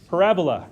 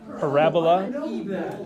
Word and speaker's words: parabola: name of that graph parabola is the way you say that parabola parabola parabola so you you put emphasis on the second a so it's not a parabola parabola sounds like some